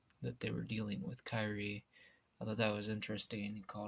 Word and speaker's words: Kyrie: Actually, he said Kyria because that's how they say her name in this game, but that's not how it's spelled, so I don't say it that way.